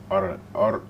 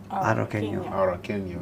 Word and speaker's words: Arroqueño: This one is, how do you pronounce that? Arroqueño? Arroqueño. Arroqueño.